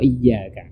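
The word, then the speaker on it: إِيَّاكَ: masuk Iya pokoknya pijakan wa iyyaka dibaca mesti ditekan karena disitu ada tasydid Dia rupiahnya kemudian ihdinas sirotol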